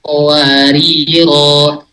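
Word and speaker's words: قواريرا: Jadi bukan qawariro, tapi qawarir. Huruf rohnya jadi sukun.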